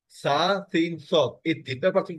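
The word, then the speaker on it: ص: সা সিন সদ sir scene হবে স্যার হালকা আর সদ হবে ভারি একটু নিচের থেকে জিহ্বার থেকে একটু তালুর সাথে মিলে যাবে স্যার হবে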